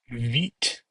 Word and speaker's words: Vite: So how do you pronounce VITE? Veet.